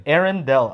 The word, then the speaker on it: Arendal: Arendal.